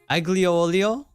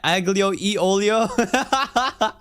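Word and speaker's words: aglio e olio: Olo no way no ago e Olo no way man that's not real the g is silent Alo Olio what are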